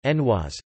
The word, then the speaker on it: genoise: A Genoise, or, French pronunciation, Genoise, Genoese cake or Genovese cake, rarely spelled Genoise